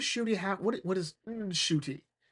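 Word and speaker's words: Ncuti: Like what is Shy have what what is Shooty? It's pronounced Shooty.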